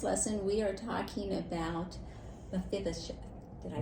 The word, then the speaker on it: Mephibosheth: And so here in this lesson, we are talking about Mephibosheth.